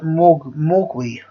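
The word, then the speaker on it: 魔鬼: And Mandarin it's pronounced Mogui.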